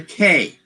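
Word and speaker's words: The Cay: story called the k it is spelled c a y c a y the k and the k is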